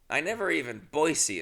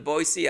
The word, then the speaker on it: Boise: Boise is how they pronounce it.